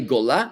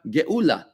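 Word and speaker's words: גאולה: Gola, Gola means exile. And how do you say redemption? Not Gola, but Geula.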